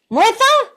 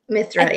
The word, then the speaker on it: Mithra: Martha? Did I say it correctly this time? Mithra, yeah. Mithra. I keep getting it right and then wrong.